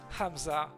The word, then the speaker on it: Hamza: No, Hamza. The second H is implied. Different twist on the syllable.